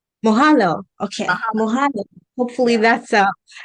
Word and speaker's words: Mahalo: Mahalo. Mohalo.